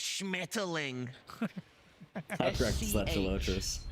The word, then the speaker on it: Schmetterling: Give us the proper pronunciation. Schmetterling.